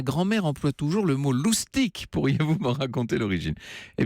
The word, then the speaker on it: loustic: emploie toujours le mot loustics pourriez-vous pour raconter l'origine eh bien elle raison cette grand mère un joli mot loustics ça s'écrit l aud usd i c est évidemment c'est directement le